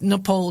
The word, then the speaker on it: Nepal: So apparently, this is how Phil says Nepal now. Nepal, right? He says it like that. It rhymes with PayPal.